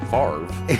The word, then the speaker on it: Favre: It is Favre. That's true. Favre?